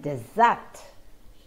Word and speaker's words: dessert: syllable in this that the second syllable is the stressed syllable both these words are